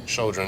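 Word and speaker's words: Chödrön: Chodron. Chodron, yeah.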